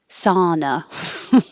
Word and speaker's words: sauna: like ah like hot so if you think hot sauna that will be the right vowel ah sauna whenever there's a th